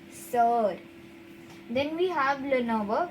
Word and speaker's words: sœur: E, U, R, sir.